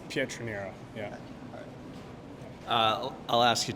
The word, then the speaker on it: Pietroniro: know how to say it but would you pronounce your last name for him it's Petrino yeah uh I'll ask you just about you